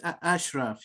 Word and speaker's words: Ashraf: Ashraf, is that how I pronounce it? Yeah, it's Ashraf.